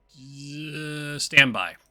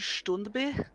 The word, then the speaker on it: Standby: Standby. Just go with Astrid for now. Astrid standby. Got it. Standby do tier. It's pronounced Stundby. Stundby. It's a totally normal Swedish name.